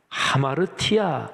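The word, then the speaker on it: ἁμαρτία: 수 있는 능력이 없습니다 죄 라는 헬라어 단어가 아마로 티아 이렇게 발음합니다 근데 그 원래 어휘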